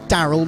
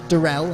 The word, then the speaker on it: Daryl: clarification from daryl that it is daryl not darrell i've um i've been